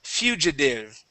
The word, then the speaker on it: fugitive: and erratic good and fugitive exactly instead of fugitive fugitive fugitive fugitive good okay get that EU on on F okay F Fugitive fugitive